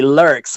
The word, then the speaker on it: Lürxx: So it's kind of like lurk. Okay. And uh then you put an s in it would be lurks would be several l